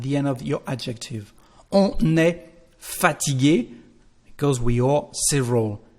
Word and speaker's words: on est: There is a liaison, because we've got a consonant at the end of the subject. So how to say that? We say on est fatigué.